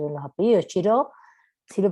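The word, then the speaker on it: Xirau: Ramón Chiró, sí, así se pronuncia, es catalán. Pero no, pronúncialo en español, no pasa nada.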